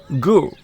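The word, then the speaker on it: 狗: By the way, in Chinese, dog is pronounced gu, gu.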